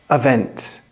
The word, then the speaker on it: even: Well, on these two words, the stress is on different syllables. In even, the stress is on the first syllable. Even. But on event, the stress is on the second syllable. Event. Event.